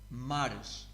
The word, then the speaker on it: mares: All you have to do is to add ish. Mar, mares.